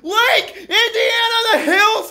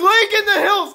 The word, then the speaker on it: Lake in the Hills: And number three, it's not pronounced Lake Indiana the Hills! It is Lake in the Hills!